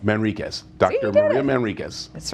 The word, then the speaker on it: Manriquez: Pronounce the last name, doctor. Manriquez. Manriquez.